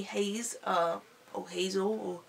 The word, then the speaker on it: Heize: high is it oh quit haze which is spelt hei ze haze uh Oh hazel how